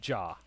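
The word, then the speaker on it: じゃ: and this one here is jaw got it like a jar of jam yes with the with the uh with the soft r instead of a hard r all right so we'll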